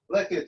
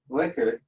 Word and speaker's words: Likert: I knew it was named after Likert, but Likert is pronounced Likert and not Likert. And what could I say? For all these years, I've been using the word Likert, but it's actually Likert.